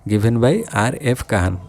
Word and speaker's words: Kahn: माने ये किए होचंती RF काहन KAHN काहन खान नुहे काहन RF काहन सी देथिले केबे डेफिनेशन ना 1931 रे तो 1931 रे गिवन बाय RF काहन जो मल्टीप्लायर कॉन्सेप्ट प्रथमे